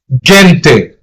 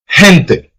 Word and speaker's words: gente: You can't say gente or gente. You have to give it a soft pronunciation, which is he, gente.